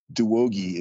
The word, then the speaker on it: Douoguih: It's phonetic. It looks pretty close. Douoguih is how you pronounce it. It's West African, and the first name spelled wrong as well.